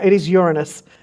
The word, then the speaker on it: Uranus: And it is definitely pronounced Uranus? It is Uranus. I tell the children here, I make them learn it. So I do tell them to pronounce it. It is Uranus.